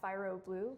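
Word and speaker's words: Phyro Blue: So on almost all platforms, I'm at Fyro Blue. That's spelled P-H-Y-R-O Blue.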